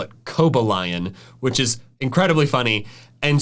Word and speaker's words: Cobalion: The first part of its name comes from cobalt, referring to both the metal and the blue color.